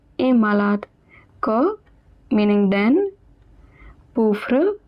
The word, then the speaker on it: pauvre: Pauvre pronounced as pauvre meaning poor.